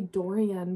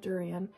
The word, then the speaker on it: Dorian: my second favorite character I always want to say Dorian but like I read the name pronunciation guidance said durian so I loved his